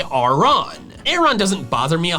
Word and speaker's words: Aron: The official pronunciation is Auron.